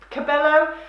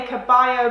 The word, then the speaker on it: Cabello: is Havana by Camila Cabello. I want to say Caballo because I'm thinking I'm really cool in Spanish, but I'm sure that that's not how you say her name.